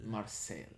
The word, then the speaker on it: Marseille: How do you pronounce it? Marseille.